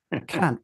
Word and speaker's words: Kant: Yeah, I assume that Kant is one of those words that you referred to earlier that means something different in the real world.